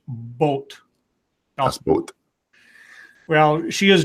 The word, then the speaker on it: Boot: one says you pronounced boot wrong scribe it's pronounced boat that's Bo well she is German so very um we're American we say it dos boot do boot you're lucky we don't say Das